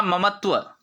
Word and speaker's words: ममता: ममता या ममत्व, देखिए एक तो उच्चारण ना, सही उच्चारण होगा ममता, ठीक है, सही उच्चारण है ममता। हम जो उच्चारण करते हैं वो ममता होता है, समझ रहे ना। माँ की ममता गलत उच्चारण है, माँ की ममता ठीक उच्चारण है।